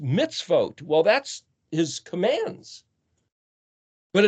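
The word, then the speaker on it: מצוות: Well, vav tav is the plural of mem zadi, which is pronounced mitzvot.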